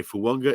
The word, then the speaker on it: Fuonga: For example, Fuonga, which I found out today, Fuonga is the correct way to pronounce it. I guess Samoan names, that N is implied with the G.